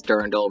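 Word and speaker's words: dirndl: call it right now I just looked it up wiary says durndle we're sticking with durndle now I think that Pandora had a better look here with the durndle I understand why Ivon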